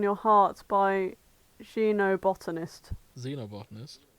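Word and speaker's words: xenobotanist: xob botanist Xeno botanist I never know if I should pronounce X as a sh or a z yeah so this x comes from Latin so uh yes so it's an a Xeno botony You' but you've just pronounced it with a zed yeah that's how it's pronounced Zeno boty then why isn't it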